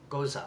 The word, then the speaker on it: Gose: that's what that is oh gosa that's that's how it's pronounced just caught that as